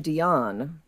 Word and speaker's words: Dionne: By the way, I would pronounce his last name Dionne. Okay. Like Celine?